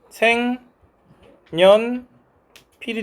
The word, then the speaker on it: 생연필: 발음이 어떻게 된대요? 생 년 필이 된대요. 얘가 뭐하고 뭘로가 일어났대요? 첨가와 교체가 일어났답니다. 맞아요. 먼저 첨가는 뭐가 참가됐습니까? 니은 첨가됐습니다. 그래서이 첨가는 니은 첨가라서 생 년 필이 된 거겠죠?